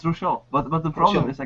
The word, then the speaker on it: Rouchiel: So Rouchiel, am I pronouncing that correctly? Is it Rouchiel or Rouchiel? It's Rouchiel, but the problem is I can't.